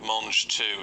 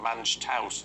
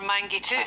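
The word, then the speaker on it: mangetout: That's I don't know what people are getting wrong with mange too. I mean, surely we know it's not what a mange tout. Or mangy toot.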